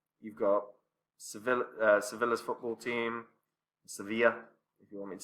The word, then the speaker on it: Sevilla: You've got Sevilla's football team, Sevilla, if you want me to say it properly, Benfica, Jesus Christ, even Italy's national team.